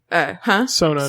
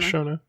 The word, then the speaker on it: Sona: Sona, not Shona.